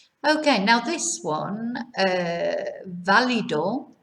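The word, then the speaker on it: válido: this one uh valido notice where the accent is on the first day on the only a in fact uh which gives us the stress on the beginning of the word right not valido so valido so this is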